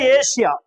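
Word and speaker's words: Asia: இது ஒன்னு அடுத்தது பார்த்தீங்கன்னா ஏசியா தமிழ்ல நீங்க பாட்டுக்கு ஆசியான்னு எழுதிருவோம் புரியுதா ஆமா ஆனா என்னது இங்கிலீஷ்ல என்னது ஏசியா இது எத்தனை சிலபில் ஏசியா ஏசியா ரெண்டு சிலபல் தான் ஆனா தமிழ்ல நம்ம ஆசியான்னு எழுதுவோம் அப்ப மூணுன்னு ஆயிடும் சோ இது வந்து விதிவிலக்கா நம்ம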